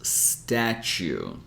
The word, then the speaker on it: statue: to spell this word the way that we pronounce it it would be like this statue you're going to notice that a lot of